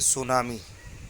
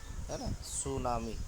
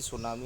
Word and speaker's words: सुनामी: कर लग जाए सूनामी इसके अंदर चिढती है वह साइलेंट है सूनामी सी को नहीं पढ़ा जाता है दरअसल बस इस बच्चे जो एसिडिटी सुनामी ऐसा पढ़ते यह जल उपचार है गलत प्रनंसीएशन है इसको सिर्फ सुनामी पढ़ना है ठीक है देखते